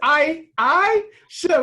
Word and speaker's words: Aisha: Man, you better say Coach Aisha. Aisha, it's Aisha. We got to say her name right.